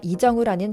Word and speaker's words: 이정후: 미역에 방송되는 MLB 네트워크는 전 메이저 리거이자 지난 WBC에서 미국 대표팀 감독을 맡기도 했던 마크데로사는 정울이라는 미국식이 아니라 이정우라는 정확한 발음으로 부릴 정도로 존중함에 극찬합니다.